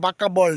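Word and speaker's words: বাঁকাবল: এই ড্যামটির নাম বাকব বল dam. Actually এখানকার লোকে বাকব বলে। উচ্চারণটা হবে বাকাবল ড্যাম।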